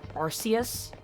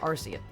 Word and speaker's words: Arceus: that nobody fucking says Arceus. I think the only reason why, like Pokemon is really trying to push Arceus as its official pronunciation is because Arceus has the word arse in it.